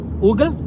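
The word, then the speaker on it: уголь: Ugal.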